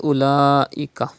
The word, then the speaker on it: أولئك: Look at the word أولئك. There is Hamza after Khada Zabar. It is Madde Muttasil. You have to stretch up to 5 harakat.